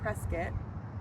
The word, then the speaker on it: Prescott: So we were move we moved to Arizona no knew no one and in this small little town called Prescuit that's spelled Prescott so it's very Oh okay very tiny little town.